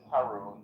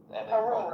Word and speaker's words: Haroon: I think I mispronounced it earlier. It's so okay. My friends call me. It's Haroon. Haroon.